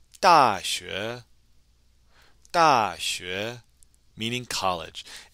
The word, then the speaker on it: 大学: And don't forget with that X, it can be very difficult to pronounce, but you'll be able to pronounce it correctly if your tongue is touching the back of your bottom teeth.